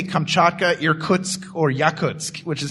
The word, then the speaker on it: Irkutsk: people reading the board, nobody can say Kamchatka, Irkutsk, or Yakutsk, which is how they're all pronounced. Yeah. That's just hilarious to hear people try to pronounce the names of countries. I'm going to attack you in Erskuz.